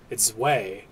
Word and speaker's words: Zweihander: Zwei-E, but it's Zwei, E-I, Zwei. Why does it even matter? Because. It's a big, hideous sword with sharp edge and point. Zweihander!